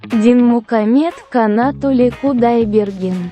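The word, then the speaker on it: Dinmukhamed Kanatuly Kudaibergen: Que se pronuncia así. Dinmukamed Kanatuli Kudaibergen.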